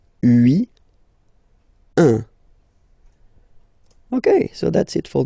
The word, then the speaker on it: un: Alright, so when you combine this U and N, you get the nasal sound un.